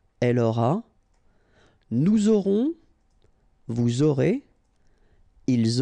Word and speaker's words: aurez: Vous aurez. All right, O, and then EZ at the end will give you this E sound.